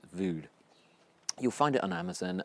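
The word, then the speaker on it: Vogd: it's by Peter vood and that's spelled v o g d right I think you pronounced it vood you'll find it on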